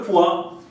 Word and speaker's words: poids: Donc là, si on rajoute un D, ça veut dire le poids.